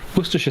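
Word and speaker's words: Worcestershire: So they just you say the war it's very easy to pronounce just it's got nothing to do with the letters. The warestester bit is just wor if you say shia you know it's not great. We pronounce it either sh or she.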